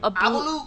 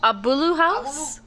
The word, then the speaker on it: Agbulu: So, you want to get Agbulu? Me? Agbulu? Agbulu House. The G is silent. I remember this because he was on our stream. Abulu. Abulu House?